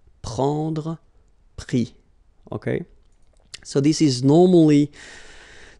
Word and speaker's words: pris: And then prendre, so e-n-d-r-e, will give es, pris, okay. Same thing here, you don't pronounce the final s, okay.